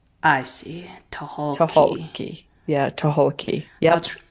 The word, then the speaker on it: Tucholke: So it is Toholki. So Toki? Toholki. So Tahoki. if you look at the spelling and cross out the C, Cross out the C. and pronounce all the letters. I see. Tahoki. Tucholke.